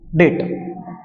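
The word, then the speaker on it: debt: हो डेप्ट ठीक है डीई बीटी डेट I hope clear है डेप्ट इसलिए बोल रहा हूं बी साइलेंट होता है लेकिन कई बच्चे नहीं समझ पाएंगे इस इसलिए मैंने डेट बोला डेप्ट बोला ठीक है डेट बोलते हैं इसको आगे बढ़ेंगे अ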